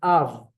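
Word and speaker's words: אב: The first word is av.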